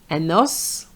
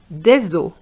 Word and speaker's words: os: enough des œufs Now for a bone un os des os un os So the S is pronounced. But for the plural it's silent.